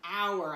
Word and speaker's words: hour: oh you are an hour it's up here my friends if you're not sure is tricky because we don't pronounce this H you just have to